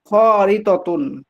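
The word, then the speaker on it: خريطةٌ: ইনদাকা খরিতাতুন ইনদাকা, এই জাদিদাতুন, উচ্চারণটা তোমার আমি আপনাকে শিক্ষা দিয়েছিলাম। খরিতাতুন।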